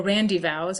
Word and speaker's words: rendezvous: this time for their rendezvous, or randyvows as it was generally pronounced, was an inn of